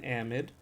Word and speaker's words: amide: Yes, this is an amide. Pronounced amide. So even though it's so nice to say amide, it is technically pronounced amide.